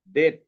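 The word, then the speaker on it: debt: শব্দের মাঝে যদি বিটি থাকে, এই যে শব্দের মাঝে বিটি, মানে বি এর পরে টি, বি এর পরে যদি টি থাকে, তাহলে আমরা বি এর উচ্চারণটা করবো না। যেমন ডেট, দেখছো এখানে কি আছে? আমি এখানে দেখাই, ডি ই বি টি, ঠিক আছে? কিন্তু এটার উচ্চারণটা আমরা করব ডেট।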